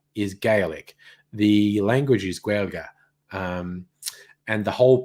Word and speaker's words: Gaeilge: The language is Gaeilge. And the whole pronunciation thing is very different to English.